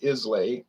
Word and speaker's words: Islay: this is uh isla so this from the island of islay isla as they pronounce it isla but it's spelled isla but